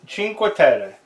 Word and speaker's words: Cinque Terre: Today we have Cinque Terre, the 5 Villages by Rio Grande Games. What's inside that box? Let's find out. So today we have a game called Cinque Terre, and I think I would probably be the